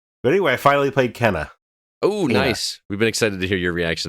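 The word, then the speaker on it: Kena: anyway i finally played kenna oh nice we've been excited to hear your reaction to this i should say kana or kenna because different characters say it different ways for some reason don't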